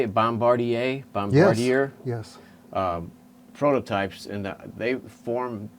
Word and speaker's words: Bombardier: are um how do you say it bombardier bombardier yes prototypes and they form pretty much the